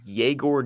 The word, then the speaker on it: Yegor: His name is pronounced Yegor Dioman. Oh. I had to get that right. Take some of the aura out, I know. Oh. Not Igor Did you Demon.